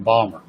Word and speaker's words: Baltimore: Is that actually pronounced Baltimore? Because a few people I've met from there tell me they're from Balmer. Balmer, yeah, like Steve Ballmer.